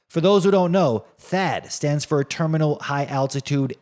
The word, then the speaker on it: THAAD: First off, for those who don't know, THAAD stands for Terminal High Altitude Air Defense. THAAD. You know, it rhymes with bad, and that's exactly what it is for your wallet.